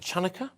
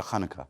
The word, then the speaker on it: Hanukkah: Well, many of you will be celebrating the Jewish holiday of Hanukkah, or however else you pronounce it, Chanukah, is that right? I go for Hanukkah.